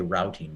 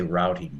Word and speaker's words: routing: no we don't say rooting we always say routing number it's interesting in American English we have two words we have two pronunciations for the same word root and route but we choose the